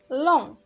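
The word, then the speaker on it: long: كذلك لون هنا كذلك جيموي ما كتنطقش، اللي كتعني طويل.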